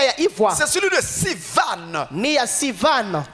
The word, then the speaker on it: Sivan: C'est celui de Sivan. Ni ya Sivan. Qui ça s'écrit S. Bakesonga S. I I V V A A N N.